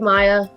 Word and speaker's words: Mia: so i'm excited to be at jordan springs elementary school excellent welcome todd hi my name is maya um it's technically spelt mia but it's pronounced maya so if you get